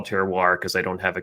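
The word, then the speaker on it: terroir: And even though it still took me maybe eight years to say it correctly, that would be teroir, you know, that that still that that's kind of the definition of it.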